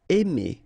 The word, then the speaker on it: aimer: Aimer. Okay, remember when you combine A and I, then you get the sound E. Really open, E. Aimer.